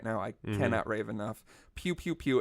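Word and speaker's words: Pkew Pkew Pkew: Pew Pew Pew. It's spelled PKEW three times.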